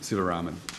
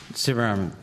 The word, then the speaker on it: Sivaraman: Mr Sivaraman, is that how you pronounce it? Sivaraman. Sivaraman, thank you.